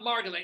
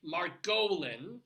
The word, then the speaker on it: Margolin: it go it's it's it's not margolin it's marolin that's how my father pronounced it I refused to change